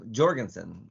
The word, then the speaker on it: Jorgenson: you think about mat Jorgenson apparently everybody in Europe is saying Jorgenson and they've been told that it's not Jorgenson is the hard G Jenson yeah yeah but